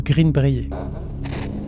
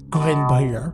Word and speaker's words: Greenbrier: cas du fantôme de Green Breer ouais bon j'ai fait le choix de prononcer à la française m'en voulaz pas mais sinon je pense que c'est plus greenber imaginez une enquête criminelle